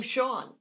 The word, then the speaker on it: Sean: like the word it's like the name sean yeah uh for years it was senior yeah right right my